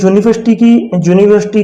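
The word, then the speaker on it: university: तो जिसका right answer होगा ये यूनिवर्सिटी की जो प्रोनाउंसिएशन है वो कॉन्सोनेंट साउंड बाई से शुरू होती है, इसलिए हम ए का प्रयोग करेंगे।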